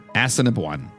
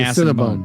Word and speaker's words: Assiniboine: It's pronounced Assiniboine. Assiniboine. Yes. So it's not Like a ass and bone. Cinnabon. It's not ass and bone. No, it's closer to a Cinnabon.